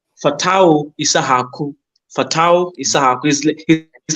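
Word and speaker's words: Fatawu: um there's there's a boy a Ghanaian called fatau isahaku fatau is like money but with the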